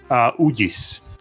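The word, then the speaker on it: Uģis: Ugis. Oh, boy. Yeah. It's like the G has like a check above it, and it's like a soft G because there's 2 G's in Latvian.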